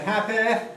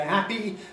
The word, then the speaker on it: happy: So, point being that you can say happy, you can say happy, you can say something intermediate, happy, and it doesn't matter at all.